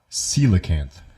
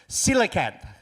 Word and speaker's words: coelacanth: 1938, British Museum was exhibitioning a display of a fish called a coelacanth. Thank you. Did you see that word? How do you say that? Coelacanth.